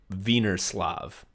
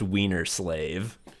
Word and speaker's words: Wienerslav: Wienerslav." And he says, "Oh, it's pronounced Wiener Slave."